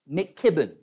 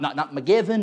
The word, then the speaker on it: McKibben: It's pronounced McKibben. Not McGevin, not McGavin, McKibben. Enunciate a little bit."